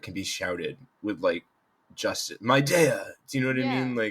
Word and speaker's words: Mid'eia: And in my pure naming fashion, it's kind of just two pieces, two syllables that I like smushed together with an apostrophe in the middle. So Love it. my country is Midea.